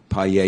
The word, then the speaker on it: paella: way to say um paella yeah you know the most famous Spanish dish yeah it's p-a-e-l-l-a yeah okay so you say that there's like a y so I always thought